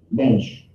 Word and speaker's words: mensch: Mensch, M-E-N-S-H, or M-E-N-C-H, rhymes with bench, from the German Mensch, person, plural, Menschen, one, a human being, after all, he's a mensch, not an animal.